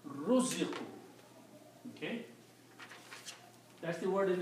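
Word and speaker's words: رُزِقُوا: If I take the first two letters here, first one has a fatah. If I change that to a dhamma, and the second letter has a fatah, if I change this to a kasra, okay, so the word now becomes ruziqu.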